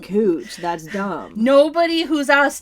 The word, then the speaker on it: Couch Street: Like saying couch, okay, I get that. Couch Street, it's fucking spelt like fucking couch. Yeah. I'm sorry they want to pronounce it cooch.